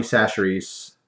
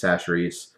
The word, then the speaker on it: Chachere's: This is Tony Chachere's. That's how you pronounce it, I believe, is Chachere's.